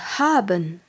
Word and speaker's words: haben: quelqu'un comment ça va et apprenons le verbe haben h A B e n haben c'est le